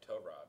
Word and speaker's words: Tyrod: Pronounce it right. Tyrod.